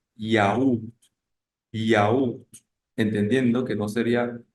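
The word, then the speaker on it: yaourt: dice en español yogur en francés se escribe parecido y se pronuncia yaú yaú entendiendo que no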